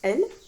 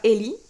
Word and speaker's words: Elle: nous avons elle alors je pense que ça se prononce elle et pas Élie mais donc e2le c'est